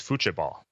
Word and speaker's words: futebol: I think in Brazil and in Portuguese, it's futebol. It's spelled with a T, but it's more of a CH sound, if I recall correctly.